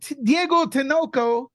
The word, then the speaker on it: Diego Tinoco: Lewis here with nuke the fridge we have Diego tanoko that's right pronunciation correct perfect that was perfect nobody gets